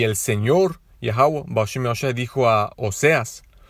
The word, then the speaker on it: Yahweh: Su nombre verdadero es Yahweh, no Jehová. Yahweh es como se pronuncia su nombre en el hebreo antiguo, nuestro idioma original, siendo los israelitas.